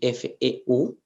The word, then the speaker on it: feu: y la palabra fe, que se escriben casi igual, o sea, F-O-U y F-E-U, pero se pronuncian diferente. La primera se diría fou, que quiere decir loco, Ujú. se dice loco en francés es fou, y la otra palabra que es feu significa fuego. Entonces son palabras que son